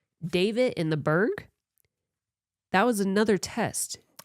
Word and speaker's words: Berg: It's Berg. B U R G. I thought Oh, they spell it because the way they said it, it sounded like bird.